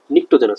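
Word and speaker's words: pnictogens: কিন্তু উচ্চারণে লিখতে গেলে দেখো তোমার পি চলে আসতেছে। নিক্টোজেনাস এটা একটা নিউমিনিয়ার মতো উচ্চারণ, নিউমিনিয়াতে কিন্তু পি চলে আসে বা সুনামিতে টি চলে আসে, বুঝছো?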